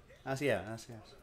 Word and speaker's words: Asiasi: Asiasi.